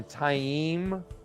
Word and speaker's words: Taim: One is that a Mazrim Taim, or Taim, I believe is the correct pronunciation.